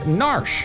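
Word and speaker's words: Narshe: budget uh budget UI I say nar which rhymes with Marsh use us to protect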